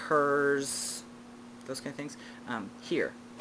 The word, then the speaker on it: hir: And instead of his, hers, those kind of things, here. It's pronounced here, as if I were hearing, but it is spelled H-I-R.